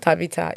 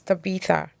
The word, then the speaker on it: Tabitha: Tabita. No, it's not Tabita. It's Tabita. Tabita. Wait. Tabita. Like the the last T h a.